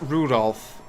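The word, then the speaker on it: Rudolf: ] that is anyways this guy's name is pronounced Rudolph you must take grandfather for giving him he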